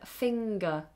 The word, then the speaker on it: finger: But there are some cases where we do release it, like in the word finger.